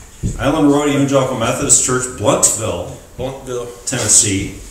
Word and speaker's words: Blountville: Road Evangelical Methodist Church, Bluntville, Tennessee. I learned the hard way that I pronounce it Blountville, and I was quickly corrected.